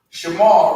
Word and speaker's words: Shema: Shema, right? Shema. Again, on the connector, you pronounce the first letter and make the sound of the second.